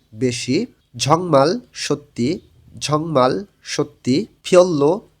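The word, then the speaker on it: 별로: মানি বেশি, ঝংমাল সত্যি, ঝংমাল সত্যি, ফিয়ল্লো তেমন, রিউলের পরে রিউল আছে, দুইটাই লয়লা উচ্চারণ হবে।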